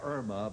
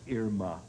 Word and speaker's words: Irma: Most people say Irma, but really the correct pronunciation is Irma, as in Irma la Douce.